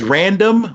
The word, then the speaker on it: Random: it re nd M or is it random it's random but I do understand that since without the vowels people just spell it out Indian but yes it's pronounced random for me okay so